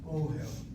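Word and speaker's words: אֹהֶל: Ohel. Same spelling of the three letters, only now spelled with a kamatz and a pata.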